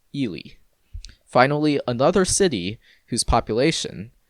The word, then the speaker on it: Ely: of eureka lies ely yes spelled e-l-y and pronounced ili finally another city whose population that is 3924